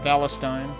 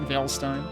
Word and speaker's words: Valestine: So they pronounce it Valestine. Okay. Not Valstein.